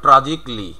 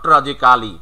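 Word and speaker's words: tragically: ট্রাজিক্যালি, তাহলে হবে ট্রাজিকলি, নট ট্রাজিক্যালি, ট্রাজিকলি।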